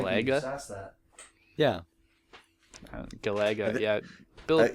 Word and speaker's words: Galaga: Galaga, yeah. Bill says lots of things funny. I just roll with it. I think you're putting the emphasis on the wrong syllable. I've heard people say Galaga.